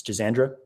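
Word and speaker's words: schisandra: about teas number one schizandra Berry s-c-h-i-s-a-n-d-r-a it's jazandra five flavor Berry looked that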